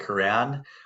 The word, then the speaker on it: Koran: As the introduction said, I'm Koran, also known as the, and that's my little moniker because it rhymes with my last name, and that's what I do: mortgages.